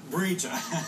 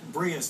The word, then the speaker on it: Bria: Before we tell that story, let's get Bria's take on the whole thing. They were calling you Brija. Somebody probably corrected them. It's Bria. Yeah, you know, I think